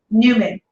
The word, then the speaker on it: Newman: say your last name Newman Chris knew it yeah Newman from Seinfeld like Newman from Seinfeld I get that like